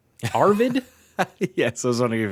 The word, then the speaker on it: Arvid: The FIA has approved Red Bull's super license request for Formula 2 driver, how to pronounce? Arvid? Yes, I was wondering if you had trouble with that one. Arvid Lindblad.